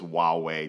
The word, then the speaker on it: Huawei: putting in money to show you how to say the name just wow way just basic simple as that but I think the